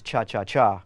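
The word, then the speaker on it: cha-cha-chá: the Chacha group actually actually the correct pronunciation is cha cha cha with three that's right is most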